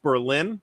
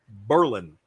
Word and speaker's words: Berlin: Davis, but it's not pronounced Berlin. It's pronounced Berlin.